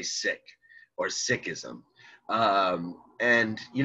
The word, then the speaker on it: Sikh: remember that that's a seeker of truth a devotee now i've heard people pronounce it sick so again i'm very i'm not very confident about this right i've met seeks and they say seek i've seen documentaries on